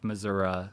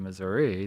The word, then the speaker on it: Missouri: possible that maybe their parents or grandparents weren't Missoura speakers but because they want to identify with Missoura as opposed to Missouri that they have sort of adopted that in